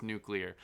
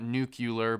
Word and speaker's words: nuclear: what it was nuclear of course it's nuclear not nucular by the way there's so many idiots out there that pronounce it nucular uh that I'm a